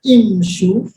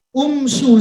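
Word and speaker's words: امشوا: Kalimatnya di Quran imshu. Imshu. Seharusnya kan dia baris huruf ketiga harus pindah ke awal. Umshu seharusnya, tapi imshu.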